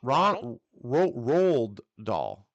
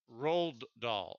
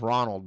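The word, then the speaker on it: Roald Dahl: Wonka holy cow Ro Robert or uh r r doll R doll okay R doll he also yeah it's pronounced it's o r o a l d um I thought it was Ronald but um he wrote Matilda he wrote BFG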